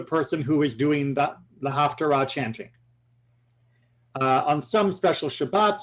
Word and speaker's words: haftarah: Because of the way some people pronounce these 2 words, you'll hear it like haftorah and Torah, and people will think they are connected.